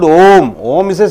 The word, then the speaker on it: Om: Center of the sound, A-U-M. What do you call? How do you pronounce? Om. Right? Om. The combination of A, U and M, it gives a sound called Om.